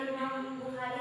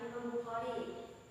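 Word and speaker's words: إمام البخاري: Nanti bacanya jangan Imam Bukhari ya, Imam Bukhari.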